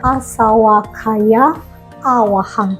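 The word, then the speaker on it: āsavakkhayāvahaṃ: Sebenarnya kalau mau dipisah bukan asawakaya wahang, tapi harusnya asawakaya awahang ya. Karena di sini kalau awahang itu baru artinya penghancur ya.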